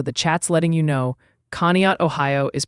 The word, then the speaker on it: Conneaut: Also, the chat's letting you know Conneaut, Ohio is pronounced Conneaut.